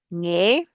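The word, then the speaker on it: ངས: Nge, it's pronounced nge.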